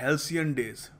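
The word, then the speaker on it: halcyon days: करके सोच कर देखिए कैसे प्रोनाउंस करेंगे इसको देखिए इसको बोलते हैं हेलसन डेज हेलसन डेज तो आपको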